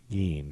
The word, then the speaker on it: Gein: yes wisconsin serial killer ed gein dean that's how you say it oh gynecologist does not